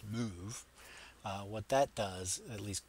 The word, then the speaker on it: MOV: assemblies so the MOV that leads this instruction pronounced move what that does at least colloquially is it